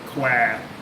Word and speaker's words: Kwai: Like the River Kwai. Thai people get really irritated when you say, "Oh, I'm going to the River Kwai." It's Kwa. I'm like, well, whoever spelt it should have spelt it Kwa, not Kwai.